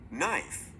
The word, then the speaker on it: knife: A silent K comes in front of N.